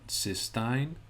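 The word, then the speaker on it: cystine: It's called cysteine, and it's spelled C-Y-S-T-I-N-E. C-Y-S-T-I-N-E.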